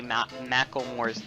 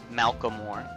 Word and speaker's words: Macklemore: myself to say Macklemore's name, because I always pronounce it wrong. I'm like Malcolmore, which is not how you say that name.